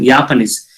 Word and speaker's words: Japanese: We have to pronounce the Japanese. Actually, the J will pronounce with the Ya.